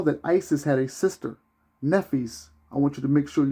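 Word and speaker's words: Nephthys: Now, if you watched the first chapter of the minister talking about Nephis, the author says that Nephis, which her name is spelled Nepthys, Nephis was the dark-skinned, this is what the author says, Nephis was the dark-skinned sister of Isis.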